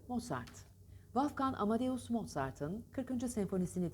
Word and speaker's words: Mozart: değil bakın TL değil mozzart değil Mozart da değil Hafif değil ete arası moosart Balkan Amadeus Mozart'ın 43s